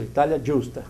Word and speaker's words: Italia Giusta: Como é que pronuncia isso aí? Italia Giusta? Isso, Italia Giusta.